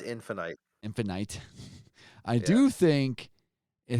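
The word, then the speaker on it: Halo Infinite: I have been playing Halo Infinity recently, and I do think It's pronounced Infinite.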